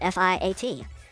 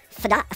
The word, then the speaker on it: Fiat: I mean, I know how to say Fiat and spell it. F-I-A-T. Fiat.